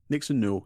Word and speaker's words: Nixon Newell: It talks about her relationship with Tegan Knox, or Nixon Newell. Did I pronounce that correctly? Nixon Newell, yep, spot on.